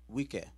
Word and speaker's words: Wicca: number witchcraft because these wiccans all they did was the but we're gonna read it go ahead read what's in yellow Wicca English pronunciation wika is a modern Pagan